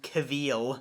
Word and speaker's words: Cavill: It's pronounced Cavill, you uncultured swine.